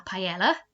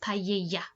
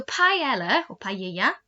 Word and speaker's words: paella: we would say la paella but it should be pronounced paella we know double l in spanish is a y sound so paella is a dish that's